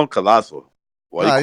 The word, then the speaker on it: Collazo: Why don't you just call him Colasso? Why No, you I call him prefer Collazo? Collazo. I'm gonna go with Collazo.